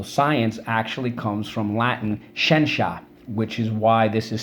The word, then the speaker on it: scientia: Now, the word for knowledge is where science comes from, and it was pronounced scientia. Scientia.